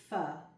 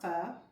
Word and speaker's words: pho: getting ready to make a very tasty Asian fur ph. It took me a while before I knew how to pronounce it uh correctly. But uh what we're going to use to make our fur, we're going to make our own vegetable broth,